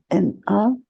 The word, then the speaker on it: Reina: Ah, j'ai un mot qui vient là, et Réna, Réna, Reina, c'est la manière de le prononcer, c'est Reina, Réina. D'accord.